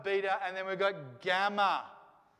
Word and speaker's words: gamma: and then we've got gamma gamma and gamma is like the g in an english alphabet right makes the same